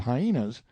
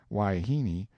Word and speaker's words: wahine: harem full of hyenas wahine most generally pronounced waihini seems to answer for wife woman and female of questionable character indifferently I never can get this man Brown to understand that hyena is not the proper pronunciation he says it ain't